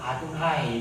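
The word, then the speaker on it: Adonai: 뭐라고 읽었느냐면 아도나이 이렇게 읽었어요.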